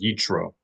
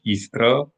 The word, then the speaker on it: Yitro: verse 22, Parashat YITRO, not to be mispronounced as YITRO. That's an example of applying the conventions of English onto the Hebrew language. So we need to be careful not to apply the practice of pronouncing TRs in English onto Hebrew, in which case you transform the correct pronunciation of the tal or thal from a ta or a tha into a ch sound like ch as in cheese. So not yitro, but yithra, or in modern Hebrew, yitro.